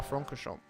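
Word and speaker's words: Francorchamps: what was that frank circuit to spar fronchamp that's how you pronounce the track okay sorry sorry I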